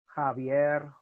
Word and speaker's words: Javier: CH is always checked the letter J is pronounced as an English H so Javier okay a Ike address okay